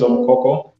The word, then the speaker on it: Omokoko: As you said correctly and pronounced it correctly, my name is Omokoko, and I come from Western Kenya.